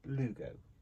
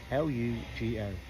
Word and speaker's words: Lugo: L-U-G-O. Lugo. Not pronounced anything like that whatsoever, but we're having Lugo. Not Ludo.